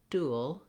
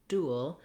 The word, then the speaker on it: dual: ly an d fl ue nt ly , du al , du al , yo u ca n fe el an